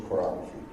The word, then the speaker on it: chorography: I wanted to poetically render the historical practice of chorography." Am I pronouncing that right?